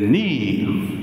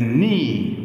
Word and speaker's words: knee: in English in general when a word starts with K and N we don't pronounce k we pronounce n ODI so the knee of the player hurts